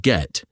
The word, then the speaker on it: get: The T in the word get sounds exactly like a soft D sound because it sits perfectly between two vowels.